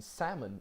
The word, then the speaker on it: salmon: In salmon, the stressed syllable is sa.